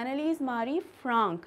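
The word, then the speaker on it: Anneliese Marie Frank: एनालिस मारी फ्रैंक और इसको हम प्रोनाउंस कर सकते हैं एनाली मारी फ्रांक जो कि एक जर्मन अ प्रोनंसिएशन है नेक्स्ट है उनका जन्म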